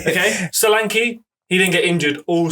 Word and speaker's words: Solanke: Thank you for bringing up the right way to pronounce it. Solanke, isn't it? Solanke. When you get in front of your Tottenham fan base, you just tell us Solanke. Dominican Republic. Solanke. Yeah, that's how you pronounce it.